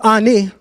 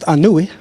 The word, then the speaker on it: Ani: On the Papyrus of Ani, or better pronounced Anui, now that I can read the Metaneta, I actually know there's a difference. Ani is not how you pronounce his name, because when you look at the glyphs, it would be Anui.